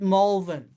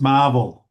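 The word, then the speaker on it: Malvern: No, 7:40 at Molvin. It's pronounced Marvel.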